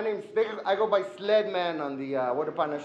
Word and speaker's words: Sledman: I thought it was the car club, but I meant the name Sledman. Where did you go with the name Sledman? Well, it rhymes with Ed, so Sled came from my partner.